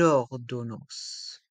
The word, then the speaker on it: ordonnance: E est mué une ordonnance et dans le mot ordonnance le a et le N se prononcent en or ordonnance une ordonnance une ordonnance